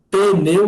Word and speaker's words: pneu: O pneu ou pneu. Lembrando, aqui é mudo, né?